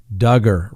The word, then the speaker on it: Duggar: talk about that's right josh duggar rhymes with hugger okay i said it